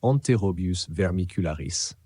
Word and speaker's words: Enterobius vermicularis: l'oxure ou enterobius vermicularis prononcer enterobius vermicularis en latin ce petit verre est